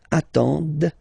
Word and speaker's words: attendent: Ils attendent, okay, so remember you get to pronounce this, d at the end, okay.